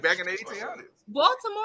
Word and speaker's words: Baltimore: They don't even say Baltimore. They say Baltimore. Yeah. They don't do the R. They don't pronounce I said be more. I said be more. What I be saying be more. They don't say no Rs.